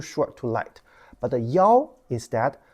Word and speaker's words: 幺: The reason is 幺 sounds harder than 一. This pronunciation is too light. Okay, if you say 一, people may just omit it. You just ignore it. It's too short, too light.